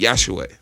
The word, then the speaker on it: Yahshua: The letter J wasn't even created by that time, so you would actually pronunciate the man named Yahshua.